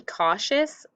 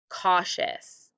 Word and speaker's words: cautious: uppercase for please be cautious you have a u for all and then you have t i for sh and then you have o